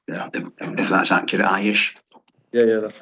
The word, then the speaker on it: Aish: I don't know if that's the right way to pronounce the company name, if that's accurate, Aish.